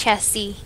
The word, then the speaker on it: chassis: nics that i have i can build the chassis and the optics it's it's it's pronounced chassis okay um yeah which means we just